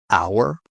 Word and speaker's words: hour: Silent h. Normally you find this in French words. For example, honest or honor, hour, ghost.